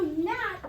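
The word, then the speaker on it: gnat: a littleg yeah and do we say Gat no no but it's we just keep that g on there because because of anglosaxon that's where it came from or Old English good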